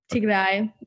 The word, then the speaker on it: Tigray: Did I pronounce the name right, first of all? Yeah, it would be like Tigray.